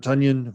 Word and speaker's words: Tonyan: And then finally, my only note is Robert Tonyan, rhymes with Funyon, ain't going to be